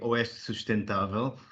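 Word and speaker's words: Oeste Sustentável: quite okay uh the correct spelling and correct pronunciation would be os sustantaval uh but uh west uh sushtantaval in two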